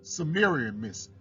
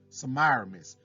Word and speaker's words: Semiramis: Now on the screen it say Sumerium, no, Sumerimus, however you say it. I don't know how to say it exactly right. It's Semiramis.